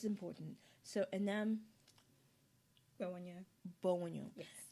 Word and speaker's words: Enam Gbewonyo: So Enam Gbewonyo. Yes. I think it's a W that throws me in the name. Because I'm used to silent letters, and I'm thinking, is that silent? Is that not?